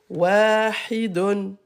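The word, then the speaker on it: واحد: Donc là, on ne va pas prononcer la dernière voyelle.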